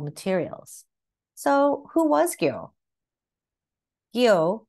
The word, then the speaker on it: Gyo: Gyo, pronounced Gyo, Fujikawa, was an artist.